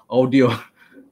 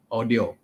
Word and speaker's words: Awedio: uh audi arnold audi audio so i always thought of the car not audi audi you know it's actually pronounced as audio a-w-e-d-i-o so with me today